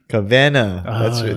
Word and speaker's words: Kawena: So the Kavena? Kavena. That's how you say it.